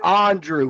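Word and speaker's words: Andruw: Andrew is the same thing. No, it's not. He pronounces it Andrew.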